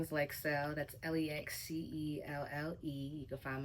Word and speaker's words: Lexcelle: Lexcelle. Already. Am I saying it right? Yes, thank Okay, you. good. I done heard some crazy stuff, like seal. I'm like, it says cell. Yeah. CELL, like. Yeah.